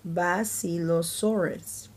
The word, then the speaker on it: Basilosaurus: You say it like this, Basilosaurus.